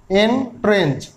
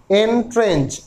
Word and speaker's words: Entrench: শব্দটি হলো এন্ট্রেন্স। এর উচ্চারণটা কেমন হবে না, এন, ইংরাজি লেটার এন আর তার সঙ্গে বলবেন ট্রেঞ্চ। এন্ট্রেন্স উচ্চারণটা হবে এন্ট্রেন্স।